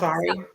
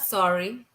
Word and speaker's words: sari: So, sari, no, honey, not sorry. You're not sorry. A sari. a sari. So they all bought one. So Jessica And then bought like wait, you gotta roll your R.